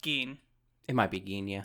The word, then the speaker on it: Gin: So Gin leaves the house, sees some ants, and the ants are like, I know it's spelled like Gin, but I'm pretty sure it was pronounced Geen.